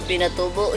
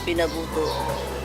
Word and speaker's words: Pinatubo: Yeah, the first is when he said the Mount Pinatubo, he said Mount Pinabuto.